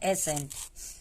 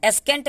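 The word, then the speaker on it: ascent: कह रहा है कि जब सी के पहले एस आए, यानी एस के बाद सी आए, तो यहाँ पे सी साइलेंट होता है। अब देखिए, इसको हम लोग बोलेंगे तब समझ में आएगा। इसको हम पढ़ते हैं एसेंट, एसेंट पढ़ते हैं।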